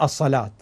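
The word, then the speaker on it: الصلوة: قصيره صغيره على الواو لتشعر بانها هذه الواو لا تلفظ واو وانما تلفظ الف ف تقرا الصلاه هذه هي الالف غير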